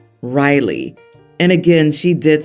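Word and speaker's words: Rylig: suggested another name r y l i g Riley and again she did spell it out I vetoed it and suggested Riley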